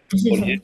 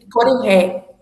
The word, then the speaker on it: Coriré: Eu pronuncio certo? O Corié? Coriré. Uhum.